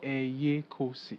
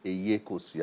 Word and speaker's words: Eyekosi: Did I pronounce your name well? Eyekosi. Eyekosi.